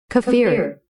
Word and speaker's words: kefir: Pronunciation: Kafir.